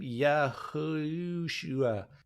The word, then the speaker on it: Yehoshua: Yehoshua. No. His name's Yehoshua. Yehoshua. It's actually my Yehoshua, brother's but it's 4 syllables. That's the third syllable I can't get. Yehoshua. No, the Yeah, it's second one.